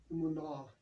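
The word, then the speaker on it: אמונה: So the Hebrew word here, it's pronounced something like emunah, means firmness, security, steadfastness, worthy of trust, truth.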